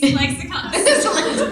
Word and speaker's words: ClexaCon: Welcome to ClexaCon. Is that how you say it? Yeah. How have you been saying it? Yes, I've been saying ClexaCon.